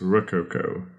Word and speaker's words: Rococo: That is spelled R-O-C, rock, oco, O-C-O. So it's Rococo.